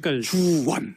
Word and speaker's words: 박주원: 바른정당과의 통합 문제에서 발음을 정확하게 해야 될 것 같아요. 이게 그렇죠. 굉장히 박주원.